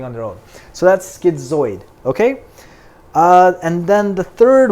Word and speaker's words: schizoid: We then think about schizoid. So like I said, schizoid is another personality disorder. Now, how are we going to remember this one? Schizoid, the last 4 letters of schizoid rhymes with avoid.